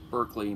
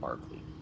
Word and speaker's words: Berkeley: Alright, so today we turn to Berkeley, spelled like Berkeley, but it's pronounced Barkley.